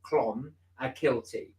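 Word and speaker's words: Clonakilty: moment no Clon a guilty Clon pronounced CL Clon a kilty is in uh yeah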